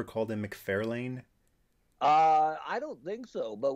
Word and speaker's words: McFarlane: So I've learned it's McFarlane, but still every once in a while. It's definitely McFarlane.